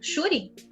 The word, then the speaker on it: Shuri: É Shuri, é o seu sobrenome mesmo? Não, apelido. Apelido? Shuri? Fala assim? É. Pronuncia assim? Sim, normal. Tá.